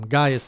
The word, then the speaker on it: Gaius: I pronounced it wrong last time. Gaius is the right way.